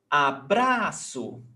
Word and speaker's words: abraço: Abraço. Before last.